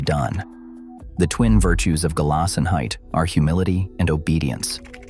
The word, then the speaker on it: Gelassenheit: Gelassenheit, pronounced gay-lassen-height.